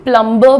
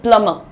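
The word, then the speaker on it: plumber: लेकिन यार बात ऐसी होती है कोई शब्द जहां से उसका जन्म हुआ उसका उच्चारण भी वहां से लेना चाहिए। तो इसीलिए हम इसको जो है अंग्रेजों की तरह बोलते हैं प्लमर। कैसे बोलेंगे? प्लमबर नहीं बोलेंगे। प्लमर।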